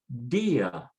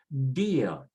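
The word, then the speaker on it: día: So in this case, they put an accent to say dia, dia.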